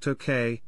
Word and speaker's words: 東京: the early meiji period the city was sometimes called tokay an alternative pronunciation for the same characters representing tokyo making it a kanji homograph some surviving official english documents use the spelling to k however this pronunciation is now obsolete chapter 2 history chapter